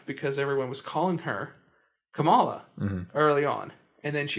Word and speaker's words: Kamala: like you know followers or something you think tamala would yeah thank you it's kamala yeah well you know what what i have